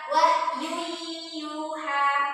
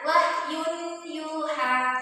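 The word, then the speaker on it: وَحْيٌ يُوحَى: Wahyu yuha. Jangan dibaca wahyun yuha. Masukkan ya wahyu yuha.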